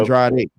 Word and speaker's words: Andrade: Andrade versus Yang.